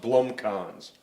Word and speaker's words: Blomkalns: The last name is pronounced Blomkalns. Blomkalns.